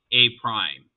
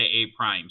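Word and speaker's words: A′: um this is pronounced a prime so when you see an apostrophe you're supposed to say a prime so when Mr Adams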